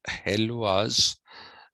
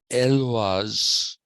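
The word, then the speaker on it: Héloïse: One is it's not pronounced Helwas in uh, French. It is Elvas.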